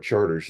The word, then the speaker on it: Chartres: So you can say, okay, the 700 block of Chartres, or they call it Charters there, but anyhow, it's spelled like Chartres in France.